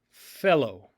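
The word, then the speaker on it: θέλω: To will, to wish to have, is fellow.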